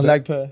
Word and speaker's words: Nagpur: Nagpur. I'd say Nagpur. Yeah. Okay, there you go. There's no E on the end of pure.